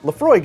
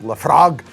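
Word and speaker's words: Laphroaig: but it can and I'm sorry I'm putting an American accent on that I'm sure it's like laf frog um lefrog Billy Connelly kind of pronunciation no but the the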